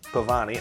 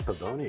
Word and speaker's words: Pavoni: Desidario Pavoni. Pavani. I don't Oh, it's Pavoni. Pavoni. Yes.